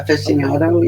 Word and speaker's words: aficionado: Finiciato. You're right. Come on, you guys, help me out. I'm not Aficionado. I'm a little ghetto. Okay. Aficionado. Yes. Fish, come on. Come on. Aficionado.